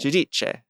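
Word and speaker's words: Giudice: Judiche.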